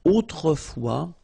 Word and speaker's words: autrefois: And then we get this autrefois, so it could be translated like in olden days or in olden times, okay? Autrefois, so A-U, autrefois, final S not pronounced, okay?